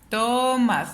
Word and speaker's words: Tomás: sílaba penúltima sílaba y empiezo a checar dónde lleva la sílaba tónica en tomas o tomas si me estoy refiriendo al nombre de persona yo me doy cuenta que está en el más entonces es una palabra aguda porque está en la